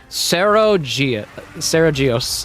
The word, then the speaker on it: Saragios: Yep, Sarah is the first two syllables of its name. Saragios is its actual name, and people call it Steve.